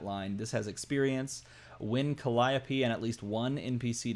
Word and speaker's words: Calliope: possible that I might call this Calliope and not Calliope which is this is Calliope charismatic bard for cost